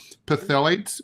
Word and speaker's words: phthalates: I don't know how to pronounce this. Phthalates, P-H-T.